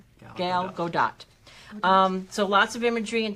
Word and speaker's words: Gadot: Godot is how it is pronounced. Gal Gadot.